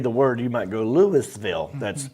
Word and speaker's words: Louisville: Did you say Louisville? Louisville. It's Louisville. Oh, without the Louisville. Well, there's three. So if you've never been and you read the word, you might go Louisville.